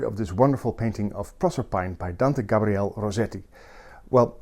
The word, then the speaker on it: Proserpine: I'm going to pronounce this Proserpine, instead of the Italian Proserpina, or the Greek Persephone, Because I think that's the way rossetti wanted it to sound.